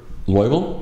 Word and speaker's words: Loibl: more no records so your name is g loable yep I I pronounced it correctly perfect wow okay that's a